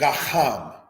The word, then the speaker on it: Gaham: Gaham, said in the language Gaham, again, because of this letter ket. That is the theme of tonight's lesson, is the letter ket. Gaham means blackness.